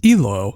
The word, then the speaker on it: IHLO: Next up is a band I think is pronounced IHLO, I-H-L-O, with Legacy.